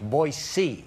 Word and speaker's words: Boise: So anyway, Jolene, the correct pronunciation of Boise is not Boise, it's Boise.